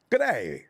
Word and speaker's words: g'day: right i'm learning g'day you don't pronounce the d let me get out of the way if you want to say goodbye to a lossy don't say good day say good ay g'day there it is jj oh hey what's